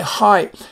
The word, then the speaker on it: hyper: And so, but it has a long I sound in the words hype.